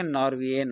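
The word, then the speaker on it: Norwegian: 9 number है नॉर्वे, और नॉर्वे का जो एडजेक्टिव बनेगा नॉर्वियन बनेगा, नॉर्वियन। इसमें नॉर्वियन में जी साइलेंट रहता है और पर्सन में ए नॉर्वियन बनेगा और पॉपुलेशन में द नॉर्वियंस, इसमें एस लग जाएगा।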